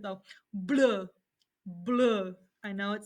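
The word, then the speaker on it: bleu: a french accent though blue blue i know it sounds weird so blue is blue if it's feminine you add an extra e it does not change the pronunciation it's just blue with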